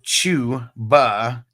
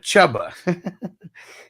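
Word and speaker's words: Chuba: per square and peacocks I never understood why it's pronounced Chu ba instead of chubba he said yes there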